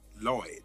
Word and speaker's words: Lloyd: Actually, it's pronounced Lloyd. All these years we've been saying it wrong.